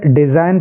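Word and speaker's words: design: इसको हम क्या पढ़ेंगे डिजाइन पढ़ेंगे हम डिजाइन क्योंकि इसमें जी का कोई उच्चारण नहीं करना है जी इसमें साइलेंट है ऐसे ही यहां पर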